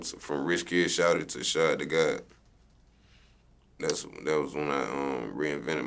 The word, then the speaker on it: Shad Da God: Shad Da God. Do people mispronounce this?